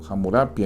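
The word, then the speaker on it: Hammurabi: Y saben, hay un código en particular, el código de un monarca de Babilonia llamado Hamurabi. Hamurapia, hay diferentes pronunciaciones de su nombre, que eh es uno de los más famosos que existe.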